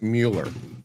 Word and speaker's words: Mueller: I pronounce it Mueller. Not to be confused with that other guy, Robert Mueller, who spells it the same way but pronounces it differently.